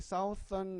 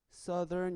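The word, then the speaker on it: southern: 뭐라고 할까 남반구 남반구 역시 사우스 썬 아니고요 발음이 써든 이렇게 맞써 들 싸 들 딴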